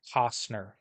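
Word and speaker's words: Costner: the an I said by the way it's pronounced Cosner and then I just walked out because she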